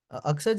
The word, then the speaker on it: Aksaj: Uh, Aksaj, Aksaj is the correct pronunciation of your name.